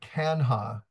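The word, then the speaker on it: Canha: And the fact that it's actually pronounced Conrad Kanha, like C-A-N, Kanha.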